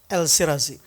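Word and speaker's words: El Shirazy: More strikingly, Al Shirzi, how do you pronounce? El Sirazi.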